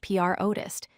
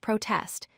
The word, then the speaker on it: protest: The word protest as a noun is pronounced protest, meaning an expression of disagreement. As a verb, it's pronounced protest, meaning to express disagreement about something.